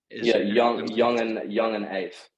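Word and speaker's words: Yungeen Ace: Youngeen Ace? Youngeen Ace, like Ace, so ACE. Gotcha. Youngeen Ace.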